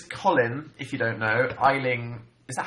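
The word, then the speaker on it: Aisling: I'm such a terrible It's an Irish name. And it's pronounced Ashling. Ashling.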